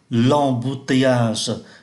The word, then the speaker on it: embouteillage: Ở đây chúng ta cũng phát âm ký tự M bằng N là l'embouteillage, là sự kẹt xe.